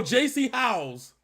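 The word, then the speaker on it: Jacy Howes: J.C. J-A-C-Y. Oh, J.C. House. Like House, like H-O-W-E-S, so kind of.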